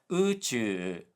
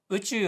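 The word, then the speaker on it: 宇宙: She mispronounced uchu, which has a high low low pitch pattern. So, it should be uchu o tanken shiyo, let's explore the universe. But she said uchu, low high high, which sounds like muchu, meaning deeply immersed in something.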